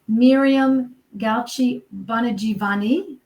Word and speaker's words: Miriam Gauci Bongiovanni: So on the highlight of truth, I'm so happy to meet Miriam Gauci Bongiovanni.